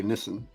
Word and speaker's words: Nissan: You say Nissan, you say Nissan. Oh, well, Nissan is actually what's correct. The Japanese actually say Nissan, and the British.